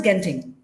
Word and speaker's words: Genting: So it's pronounced as Genting.